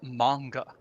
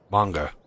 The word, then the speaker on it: manga: also uh pronunciation note it's manga manga um that's a a Japanese pronunciation thing they don't really have an a sound not not like we do anyway for example um we